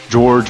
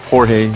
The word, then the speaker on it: Jorge: And my first name is George, or Jorge. It's spelled Jorge.